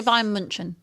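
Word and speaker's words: Bayern München: Probably because it's the correct pronunciation. But I actually say Bayern Munchen.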